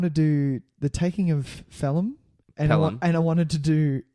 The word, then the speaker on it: Pelham: Is it Pelham? Pelham? Pelham. Yeah, it is. Because I was pronouncing a H after the P.